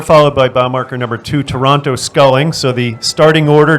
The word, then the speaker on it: Toronto: up on lake ontario that city is called toronto you don't pronounce the first zero all right i'll defer